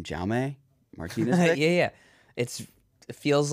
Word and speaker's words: Jaume: Jaume Martinez. Yeah. It feels like you're just bastardizing the name by saying Jaume. Right. But like he introduces himself as Jaume.